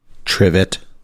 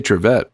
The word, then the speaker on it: Trevette: He still can't say Trevette. And at first, like when I was going through the script, I'm like, oh, they don't have any mention of like, he's intentionally mispronouncing his name. But then I realized, no, they literally spell it with Trivet. And when he says it correct, he has an additional TE.